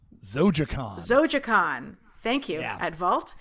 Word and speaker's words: Zojaqan: Actually, how do you pronounce your fantasy comic? Zojaqan. Zojaqan.